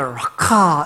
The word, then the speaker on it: 라카: 이 라가라는 발음을 하려고 하면은 우리 목에 가래가 있으면 이 가래를 뱉기 위해서 목에 힘을 주지 않습니까? 퇴 뱉잖아요. 그렇게 발음을 해야 정확하게 소리가 나는 단어예요. 그래서 라카 이러면은 소리 자체가 귀에 거슬리잖아요.